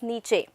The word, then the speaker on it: niche: tell you that beta the correct pronunciation of this word is niche okay and it is